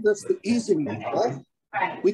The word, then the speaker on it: Ising: I think it frustrates some German speakers because we mispronounce his name. Isinglass, which is something totally different, is pronounced Ising. But some are just used to it and everybody just says Ising, even though we all know it's mispronouncing his name.